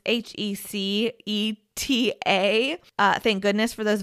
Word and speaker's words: Heceta: It looks like it should be pronounced Heceta. It's Heceta. Heceta. Thank goodness for those videos on YouTube, or I'd probably be mispronouncing it this entire episode, but it's Heceta.